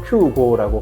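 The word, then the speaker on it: キュウゴー: 일본어로 큐고라고 발음하니 한국어로도 구오라고 읽는 게 맞지 않나 해서 구호라고 읽었습니다.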